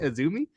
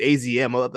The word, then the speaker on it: AZM: amm girl I didn't know her name is pronounced aumi I don't know how that how that works but I I was surprised by that that's how you say it aumi yeah me I thought it was just azm